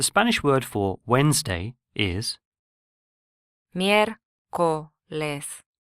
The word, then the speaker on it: miércoles: The Spanish word for Wednesday is miércoles, miércoles, Here again the first syllable is stressed due to the written accent rather than the second syllable.